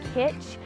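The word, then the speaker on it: cwtch: I don't even know it's spelled C WI th and I think it's pronounced pitch and it means like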